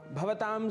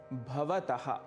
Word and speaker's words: भवतः: भवतां सर्वेषामपि संस्कृत पाठशालायां स्वागतम।